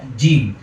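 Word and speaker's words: جيم: জিম। আর জিমটা আমরা ভিতর থেকে বলবো, কোনো আওয়াজ দিব না। কিভাবে? জি জি। অনেকে আমরা সামনে এনে বলি জি জি, আবার অনেকে আওয়াজ জারি করে বলি জি জি জি।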